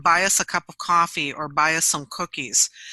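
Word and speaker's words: Ko-fi: I moved over to it's pronounced coffee but it's spelled in the stupidest way ko - fi dot-com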